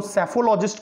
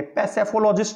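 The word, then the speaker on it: psephologist: देखिए यहां पर पी साइलेंट है और इसको सेफोलॉजिस्ट कहेंगे, पैसेफोलॉजिस्ट नहीं कहेंगे, क्या बोलेंगे, सेफोलॉजिस्ट, है ना।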